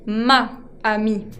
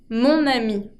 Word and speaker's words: mon ami: Mon ami. Mon ami puedo unir con la N y así me queda más fluida la pronunciación. En vez de ma ami, digo mon ami.